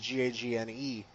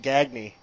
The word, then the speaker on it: Gagne: for generations, and so they like the last name Gagne, which is Gagne. I've met people in parts of the states that pronounce it Gagny, and it's their own last name. So yeah, I think it all depends on where you're at.